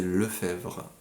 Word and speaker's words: Lefebvre: de gens c'est euh mon nom de famille c'est Le Fèvre ça ça se vraiment ça s'écrit le feubre mais c'est Le Fèvre comme tous les le Fèvres